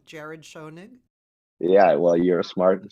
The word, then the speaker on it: Schonig: I mean maybe I'm saying it wrong Jared shonig yeah well you're a smart smart woman that's